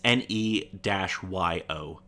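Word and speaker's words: Ne-Yo: Okay, it's a song called "So Sick" by, and I'm probably gonna mispronounce this. Neo. It's Neo.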